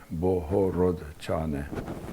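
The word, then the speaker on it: Bohorodczany: c z as in zebra a and y boho rod chaney okay and yiddish it was it was called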